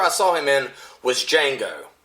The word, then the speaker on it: Django: name and he's like Django the D is silent you know and and